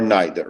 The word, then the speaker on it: neither: they they sometimes say neither they sometimes say neither both pronunciations are correct which I know is confusing but it really depends on where you're from um but I guess